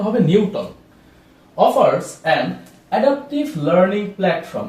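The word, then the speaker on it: Knewton: আরেকটা নাম আমরা দেখি, সেটা হচ্ছে নিউটন, উচ্চারণটা হবে নিউটন।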